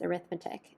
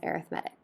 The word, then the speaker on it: arithmetic: So when we use this word as a noun, that would be pronounced as arithmetic. If we're using it as an adjective to describe this sequence, we say it as arithmetic.